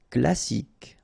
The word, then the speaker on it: classique: Alri en céramique classique.